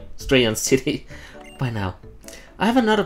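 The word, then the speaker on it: Striaton City: STR stays. EA say yeah. TON say ton. EI on. Strayon City.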